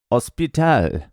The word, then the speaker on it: hospital: vocabulary just straight up hospital hospital you don't pronounce h in Spanish so anyway get on